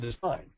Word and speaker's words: design: do come back to this word desine we think it's crazy because there's a silent G well it's not a silent G it's there for a reason if it's a silent